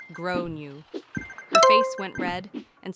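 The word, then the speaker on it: Gráinne: She asked what I meant, and I said, well, in Ireland, they typically pronounce it like grow new.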